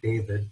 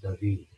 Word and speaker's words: David: The last name looks like David, but it's correctly pronounced David.